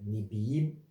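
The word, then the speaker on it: Nevi'im: Puis il y a les livres prophétiques que les Juifs appellent Nebiim, c'est comme ça la prononciation, qui est divisé en anciens et nouveaux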